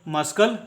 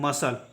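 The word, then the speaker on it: muscle: एस सी एल ई को मस्कल नहीं पढ़ा जाता है ठीक है इसका उच्चारण करते हैं मसल ठीक है क्योंकि सी जो है एस के बाद है इसलिए सी भी यहां पे साइलेंट होगा ठीक है इसका उच्चारण करेंगे मसल और मसल का मीनिंग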